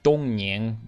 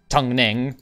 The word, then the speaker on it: Dongning: And the Ming loyalists in Tungning, or if we pronounce it like correctly in Chinese, look at how cool I am, it would be Dongning, but Tungning, let's, because this is literally how it's spelled, apparently.